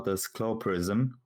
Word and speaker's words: Clawprism: mnie o to pyta poprawna wymowa tesciow Prism ale wiesz my sobie wszyscy z tego żeby tyjemy a sami dla wygody powiemy sobie czasem autyzm albo plastream więc to jest taki